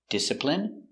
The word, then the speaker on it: discipline: Words ending in ine can have different pronunciations. All of these have the sound in. Imagine, examine, engine, discipline, feminine, and masculine.